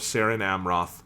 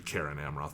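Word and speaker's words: Cerin Amroth: And taking Frodo's hand in his, he left the hill of Seren Amroth, and came there never again as living man. That should be Caren Amroth. There's no soft C's in fucking Tolkien.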